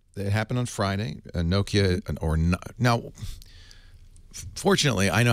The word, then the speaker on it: Nokia: is now official right it happened on Friday Nokia or now fortunately I know how to say